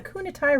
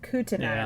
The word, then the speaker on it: Kootenai: many of the film's white water scenes were filmed on the kunatai river nope spelled that wrong or said it wrong kootenai river other scenes were filmed